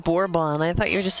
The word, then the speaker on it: Bourbon: This you get for a bourbon. Of course I did. It's borbon, not bourbon. Bourbon's the drink.